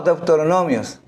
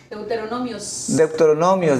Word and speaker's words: Deuteronomio: Por ejemplo, yo tenía una palabra que no pronunciaba, Eclesiastés. ¿Era la palabra? Ajá, pero no es No, Deuteronomios. Deuteronomios, decía yo, Deuteronomios. Y varias veces mi esposa dice, oye, deja de decir eso. Es Deuteronomio.